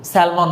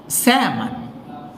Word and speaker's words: salmon: তারপরটা আমরা কি বলি? স্যালমন মাছ না, অনেক এক্সপেন্সিভ, অনেক নিউট্রিশিয়াস ইত্যাদি। এটাকে বলে স্যামন।